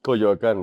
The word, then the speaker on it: Coyoacán: artisan and vendors and this little town called Coyoacan. Coyoacán, yeah. Coyoacan. And my pronunciations are still quite off, but we went.